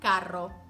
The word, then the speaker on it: carro: about a strong R it's important to get both sounds correctly because there're words that mean different things whether you pronounce it with ere or erre like pero meaning but and perro meaning dog caro which is expensive and carro which is a car right so it's important